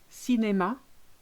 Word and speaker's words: cinéma: So an acute, which is this way around, makes it sound E. Café, cinéma, marié.